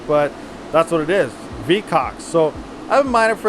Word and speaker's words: VKAX: And yes, it does sound extremely funny, but I think that's how you pronounce it, but that's what it is, vkax.